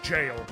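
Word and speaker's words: gaol: g a o l I did not know until within the last year or two was pronounced jail I actually pronounced it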